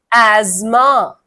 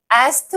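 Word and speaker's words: asthma: The answer is एज्मा। एज्मा। एज्मा एस्थ नहीं बोलते। This is the most commonly miss pronounced word.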